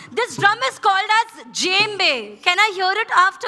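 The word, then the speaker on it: djembe: This drum is called S जेम्बे। कैन I hear it after me? जेम्बे superb जेम्बे J correct GeM बे लेट मी आस्क यू ऑल।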